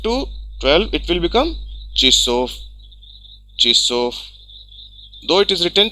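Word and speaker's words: часов: And for 5 to 12 it will become chissof. Chissof. Though it is written chassof, but pronunciation is चिसोफ.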